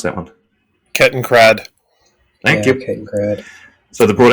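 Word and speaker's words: Kettenkrad: craft okay ken craft can how do you pronounce that one kitten crad thank you so they brought out another one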